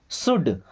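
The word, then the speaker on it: should: शुड, अब इस शुड word को ध्यान से देखिए, यहाँ पे एल साइलेंट होता है, एल को नहीं पढ़ा जाता है।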